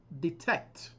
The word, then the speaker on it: detect: Number 7, detect. Detect. The stress is on the second syllable.